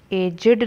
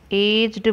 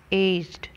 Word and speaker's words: aged: ਤੇ ਇਸ word ਨੂੰ aged ਨਹੀਂ ਬੋਲਣਾ, aged ਬੋਲਣਾ ਹੈ, aged.